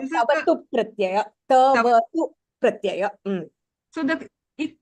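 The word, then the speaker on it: क्तवतु प्रत्यय: It is called tavatu pratyaya. Tavatu pratyaya. So the ik is silent, is it?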